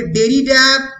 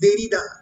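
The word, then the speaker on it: Derrida: উচ্চারণগুলো মাথায় রাখবে, ফ্রেঞ্চে ডয়ের উচ্চারণ হয় না, ফলে ডেরিডা নয়, অনেকে ডেরিডা বলে, ইট ইজ দেরিদা।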